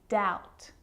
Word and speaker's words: doubt: examples subtle debt and doubt so see in all of those examples my lips aren't closing and coming together to form the B sound I'm just pronouncing the T subtle debt and doubt